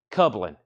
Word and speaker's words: Kublin: Kublin. Kublin rhymes with Dublin, Ireland. So Kublin.